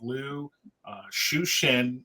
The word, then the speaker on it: Liu Cixin: it's actually written by a Chinese author called Lou shushin is is how it's pronounced I I checked earlier this morning um